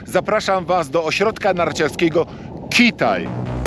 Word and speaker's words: Kühtai: was do ośrodka narciarskiego kithai centrum hit i kit i zapamiętajcie tak wymawia się nazwę nie kishtainy który tak tylko kilka